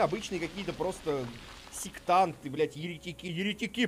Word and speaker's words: еретики: Еретики, именно еретики, а не «еретики». В комментариях люди также пишут: «Черт, иди куда-нибудь, где пишут слова правильно, с правильным ударением».